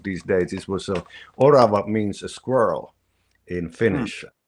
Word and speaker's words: orava: is a uh orav I'm going to pronounce it in Finnish orava o r a v